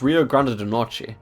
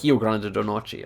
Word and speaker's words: Rio Grande do Norte: And I've heard it's pronounced Rio Grande do Norte, or Rio Grande do Norte, or something like that.